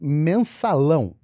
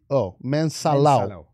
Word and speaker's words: Mensalão: It's called Mensalão. How do you spell that? It's M-E-N-S-A-A-L-A-O, Mensalão.